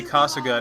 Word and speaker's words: Kasuga: Every time I say Kasuga now, I have to put a little more emphasis on the Suga part of her pronunciation, so it doesn't sound like I'm saying Casca, as in Berserk Casca, which I'm going to